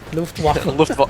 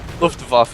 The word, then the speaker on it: Luftwaffe: Luftwaffe. Luftwaffe, I know it's difficult. Yeah, It's okay. because Whenever there's a W, whenever you see a W, just Okay. make sure you pronounce it as a V.